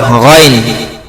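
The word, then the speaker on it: غين: এবার গইন, গইন শব্দটা উচ্চারণ করার সময় তিন আলিফ টান হবে, আর এই গয়নের মাখরাজ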